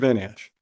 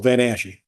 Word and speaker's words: Van Ashy: Van Ash? So they, Sorry, and I've heard your name two different ways, Van Ash and Van Ashy. You guys say it with, you know, extra syllable, Van Ashy.